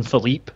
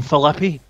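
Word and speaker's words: Phillippe: had his backstage segment with Ryan Philippe, which is how you say his name, for some reason they keep introducing him as Ryan Philippe. It's Philippe. And I think it's because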